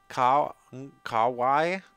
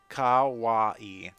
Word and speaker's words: kawaii: Heaven sent, bouncy, kawaii, I don't know how to say that word.